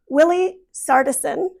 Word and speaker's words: Willi Sartison: Willi Sartison, is that how you say it?